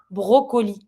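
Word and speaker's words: brocoli: in the accent because when you say it in English broccoli you tend to forget about the second o in French you pronounce it so you're going to be saying a broccoli bro you pronounce every vowel so and now you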